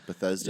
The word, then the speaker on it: Bethesda: it Betha how do you say it Bethesda Bethesda yeah um the so the games are made by or like the ones you like Oblivion and Skyrim and stuff are made by um Bethesda studio and then the online one is zenax